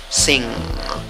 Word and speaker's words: sing: Se escribe con 4 letras, pronunciación con 3 sonidos, la I corta, ok, I corta, la N y la G, un solo sonido. Entonces, ¿cómo pronuncia la palabra? Sing, sing, sing, ok, que te salga la G mezclada con la N, ok.